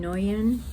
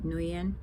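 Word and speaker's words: Nguyễn: When you see the name Nguyen, it looks like it's N-G-U-Y-E-N, Nguyen. You see the N and the G together? That's how you always pronounce it, Nhu.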